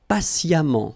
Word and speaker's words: patiemment: Patient, and then patiemment. So as I told you, even if you write it E-M-M-E-N-T, phonetically it goes like amant, patiemment, all right?